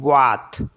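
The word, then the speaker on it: boîte: Next है BOITE, इसे पढ़ते हैं बात।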